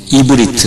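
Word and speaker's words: עברית: 자, 이 기준을 둬가지고 이 히브리 사람들은 이스라엘 사람들이 이브리트 그렇게 발음하는데, 이브리트 잘 적어, 이브리트 그렇게 발음을 하는데, 이브리트라고 언제까지 부르냐 하면은 창세기에서만 이브리트라고 부르고, 출애굽기 12장을 기준으로 이제는 이스라엘 민족이라 부릅니다.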